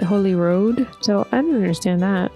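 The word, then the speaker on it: Holyrood: And then this is spelled Holy Rood, but everyone calls it Holy Road.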